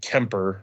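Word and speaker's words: Quimper: in Eric Raffel's shooting academy, EGCZ Academy, in Kemper, France, which is apparently how it's pronounced.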